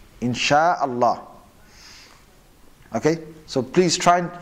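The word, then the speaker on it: إن شاء الله: Or some people say, Inshallah, Inshallah. That's actually wrong. It should be, Insha'Allah. Insha'Allah.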